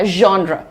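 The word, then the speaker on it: genre: क्या बोलना है ज और श का ब्लेंड करना है क्या कहिएगा जॉन्रा ठीक है र हल्का है इट्स प्र लाइट नेक्स्ट देखिए ये आजकल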